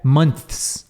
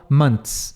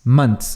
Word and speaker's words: months: OK agora vários meses você pode fazer o th se você quiser months mas Fi é difícil nem os americanos fazem entendeu em geral eles falam months months assim como eu escrevi mons sem o th faz faz um TS mesmo então aqui né three